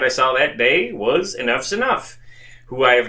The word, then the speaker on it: Enuff Z'nuff: Pronounced, of course, Enuff Z'nuff for anyone who just looks at the band name.